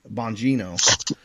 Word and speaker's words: Bongino: It's Bongino, right? Bongino.